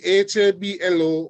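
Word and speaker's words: habló: If you see HABLO with an accent mark on the O, it's telling you that the stress is no longer on the first syllable, but now is on the second or the last syllable in this word.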